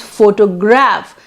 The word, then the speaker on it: photograph: or val alteration process now you can see it's four toe this is one four toe the stress is on four four but when first derivation comes and it becomes photograph then the stress comes on photograph graph so the stress changes stress is not on 4 now it's photograph then